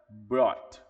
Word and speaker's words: brought: Aqui o verbo de o jeito que você vai pronunciar esse verbo é brought. brought é como se existisse simplesmente o B, o BR O e pulasse diretamente pro T.